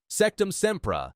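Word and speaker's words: Sectumsempra: Sectum Sempra. 2 syllables, sharp as a knife.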